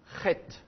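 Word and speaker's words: חית: Le petit point indique que la prononciation doit être dure. Alors, évidemment, c'est un son qu'on n'a pas en français. C'est un peu comme quand vous crachez, en fait.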